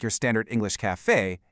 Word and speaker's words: café: So, why does it sound like that? Well, the a with that accent mark gives us a really strong, open eh sound. It's not a like your standard English café, it's eh.